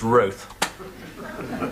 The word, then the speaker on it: Roth: No one calls him Mr. It's Roth. Appropriately rhyming with sloth.